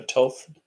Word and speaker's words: Thoth: would known as though thoth a toth that's how really you say his name who else actually really